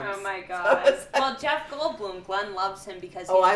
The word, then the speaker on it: Goldblum: a beautiful venue the very very funny Jeff Goldberg about him um on air and introducing him